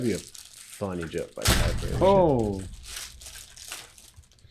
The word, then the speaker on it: Cadbury: You say Casberry? Is that how you pronounce Man, Cadbury?